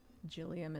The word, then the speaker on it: Jillium: Jillium is pronounced like William with a G.